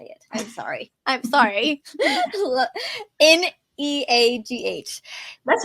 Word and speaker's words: Neagh: Neagh.